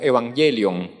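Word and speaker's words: εὐαγγέλιον: evangelio se llama se se lee se diría como evangelion allí está en griego y más o menos ella sería la pronunciación pero a su vez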